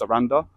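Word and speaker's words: Sarandë: So this place, Saranda, is like ends with the E with the two dots, but I think it's pronounced Saranda.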